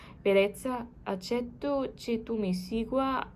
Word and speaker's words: bellezza: How do you pronounce the double L? I think in Italian it's just like an L, not like in Spanish, a J. Bellezza, accetto che tu mi